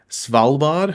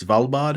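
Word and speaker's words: Svalbard: they where they're currently filming they're filming in salard hopefully I pronounced that correctly it's SV l b a r valad hopefully I pronounce it correctly um but yeah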